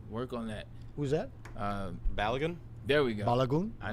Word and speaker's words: Balogun: How you pronounce his name? Work on that. Who's that? Balogun.